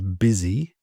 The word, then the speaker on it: busy: Now in this case, we just make the U sound like an I. So it's busy.